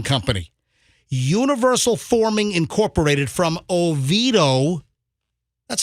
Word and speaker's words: Oviedo: from universal forming company universal forming incorporated from oviedo that's how you pronounce it right yeah that sounds right yeah